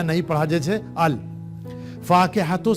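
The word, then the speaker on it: الفاكهة: जैसे अल फाकिहतु से हमने कहा अल फाकिहतु, तो लाम को हमने यहां प्रोनाउंस किया है, ये साइलेंट नहीं है।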